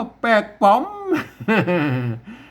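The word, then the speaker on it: แปลกปลอม: อ่าน ลั่น ลิ้น นะ ครับ อ่าน ว่า แปลก ปลอม มัน มา อ่าน มัน บ่ อ่าน แล้ว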